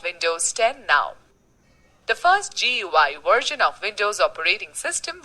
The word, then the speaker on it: GUI: etc window is a graphical user interface gui pronounced as gui between a computer and its user it has